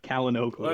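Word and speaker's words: Çalhanoğlu: It is Hakan Kalinoglu. I'm going to see how many different pronunciations I can come up with over the course of the 90 minutes.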